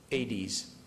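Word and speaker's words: Aedes: the disease now the help me pronounce the the name of the mosquito 80s 80s I I always spell it because it sounds like I'm saying Hades or 80 apostrophe s or something else okay so does every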